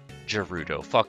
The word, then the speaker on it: Gerudo: it up idea gerudo gerudo you i say it with a hard a hard g like gato so i did expect